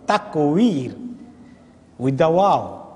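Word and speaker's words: তাকভীর: তাকবীর মানে তাকবীর না, ব্যাসকম আছে ওয়া অনেক সময় বায়ের কাছাকাছি হয়ে যায় উচ্চারণ করতে, তাকবীর উইথ দ্য ওয়াও। আর তাকবীর হলো বা দিয়ে, তাকবীর মানে আল্লাহু আকবার বলা, আর তাকবীর অন্য শব্দ।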